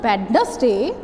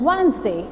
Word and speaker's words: Wednesday: People used to speak Wednesday also, but that is not Wednesday, that is Wednesday. What is it? Wednesday.